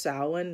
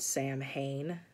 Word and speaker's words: Samhain: got they gave us a salon scrub it's pronounced samhain not samhain samhain is a band from the 80s um